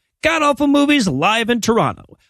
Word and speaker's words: Toronto: awful movies live in toronto god awful movies live in toronto apparently you're not supposed to pronounce the second t and locals get canadianly